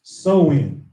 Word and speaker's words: Samhain: to the ancient Celtic festival of Samhain pronounced so in the Celts who lived